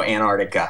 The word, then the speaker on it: Antarctica: We usually skip the first T, so just go Antarctica.